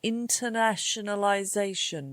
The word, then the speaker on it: internationalization: What about internationalization? Do you want to try again? Yes. Internationalization. Internationalization has got eight syllables.